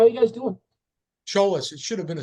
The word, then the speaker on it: Tsiolis: of people pronounce it seis I I call it CH I pronounce it trollis like a CH instead of a TS I should know that